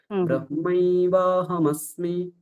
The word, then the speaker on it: ব্রহ্মৈবাহমস্মি: অকার আর অকার মিলে এখানে বা হয়ে গেছে। ব্রহ্মৈবাহমস্মি।